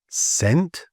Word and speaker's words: scent: But before an I and an E, the C is generally silent. And here are some examples: scent, science, scissors, and scenario.